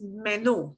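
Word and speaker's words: menú: mark right ah we say menu but it's menu and we punch the end there metal but this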